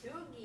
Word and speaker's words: Dougie: Doogie, it's their way of saying Doug. I mispronounced it for years.